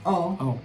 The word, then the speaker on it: ho: it's ho o and it's lowercase and you don't pronounce the h so it's just oh right and we actually